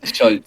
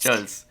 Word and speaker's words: Scholz: poco en contexto, el actual presidente de Alemania, Scholz, ¿no? ¿Cómo se pronuncia? Soy terrible, ¿eh? Hablando alemán. Scholz, Scholz. Scholz.